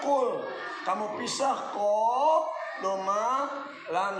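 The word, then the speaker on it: قُلْ: Misalnya qaf, doma, lam sukun, dibacanya qul.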